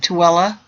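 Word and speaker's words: Tooele: the nearby tuella that's how you say it tuella Army Depot and given the new designation as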